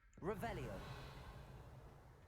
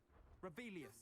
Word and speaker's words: Revelio: Rebellion where are you rebellious saying it wrong oh rebelia much better revelio foreign dangerous if I'm